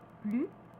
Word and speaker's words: plus: Attention, plus avec un adjectif ou un adverbe qui commence par une voyelle ou un H se prononce, mais de manière très faible puisque c'est une liaison. On dira plus intéressant ou plus habituel. La prononciation sera comme Z.